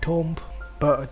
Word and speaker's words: tomb: in English as tune it is Cerf and pronounced as tomb or Tom but the word truth is off weak origin and